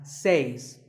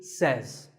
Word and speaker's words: says: this word it's pronunciation word number two is says this word is commonly mispronounced by people learning English as seis but remember I say you say but he or she says number three is etc